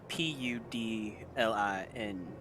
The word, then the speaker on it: Puddlin: Pudlingg. I don't think I'm quite familiar with that, but Colloquially pronounced Pudlin.